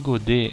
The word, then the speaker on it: Godet: Não pronunciou o T, eu acho. Sinal de Godet é quando eu aperto a perna do paciente, vamos dizer que essa aqui é a perninha do paciente.